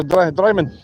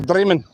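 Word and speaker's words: Drymen: So it's like diamond dry men. So dryman or dreamman depends on what your f though you get what I mean like paisley.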